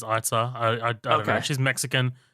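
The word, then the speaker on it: Eiza: Isa Gonzalez? I saw it pronounced Itza. I looked up an interview, and, like, the host announcer is Itza.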